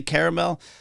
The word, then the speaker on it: caramel: it's a caramel on caramel do you say caramel I say caramel but I I think in my soul I want to say caramel caramel sounds more fun more syllables it's a ride